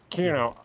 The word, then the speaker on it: Kyudo: I can't even pronounce his name. I hate fucking having dyslexia. It sucks dick. Kyudo. Kyudo? Kyudo.